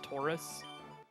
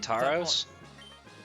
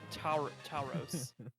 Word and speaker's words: Tauros: So people were complaining about the way I pronounced the Pokemon Taurus. Oh, you mean Tauros? Yeah, I call him Tauros.